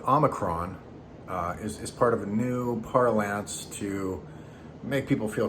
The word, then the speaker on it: nu: got to new and new is uh sounds like new right i mean homophonically it's got the same pronunciation and so when people